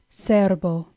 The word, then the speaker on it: cerbo: Cerbo. Our first word, cerbo, has the stress on the first syllable.